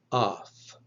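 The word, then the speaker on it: αυ: here's how it works alpha eepsilon will be pronounced like in bravo that's if it becomes before a voiced consonant if it comes before a voiceless consonant it will be pronounced like off like in the word pilaf so alpha ipsilan will be either of or off epsilon epsilon will be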